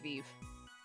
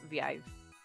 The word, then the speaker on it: Viv: My last name is Viv, which is how you pronounce that. It's not Vive or Vive. It's Viv.